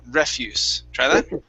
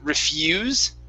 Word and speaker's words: refuse: sorry um refuse okay so our stress stresses at the very beginning refuse yeah so the other one would be to refuse okay and that would be to say no no I refuse that this is refuse and it is uh